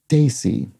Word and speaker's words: desi: said uh something like desi which was sort of a self-descriptive term for many south asians and nandini explains it's pronounced somewhat like uh daisy with a slight change to the end so it becomes z